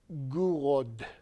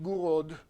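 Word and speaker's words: Gouraud: part which would be for me to say gur which I believe is how the web told me to pronounce it guro a shading really G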